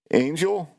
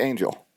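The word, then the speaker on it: Ángel: you know your um how do you say angel when you pronounce like that g is pronounced like an h or something i think you know and and and hell or angel i think either one's excited acceptable i think i think angel is wrong okay why josh i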